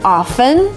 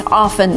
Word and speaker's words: often: You can say both often and often, but if you want to be really academic and follow the rules, T here should be silent, so it's often, not often.